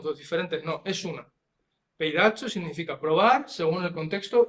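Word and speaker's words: πειράζω: Y esta palabra es peiracho, que no ha salido en español, estaba, pero no ha salido, pero créeme, se pronuncia peiracho, ¿vale?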